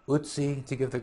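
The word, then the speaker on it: Ötzi: You know, Atsi, Utsi, to give the correct pronunciation.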